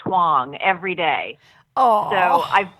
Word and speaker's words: Whang: And I say, oh, it's a soft A sound, sort of like Don Juan.